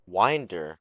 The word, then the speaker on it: Wyndr: Wind like you're winding a toy. Wyndr, bruh.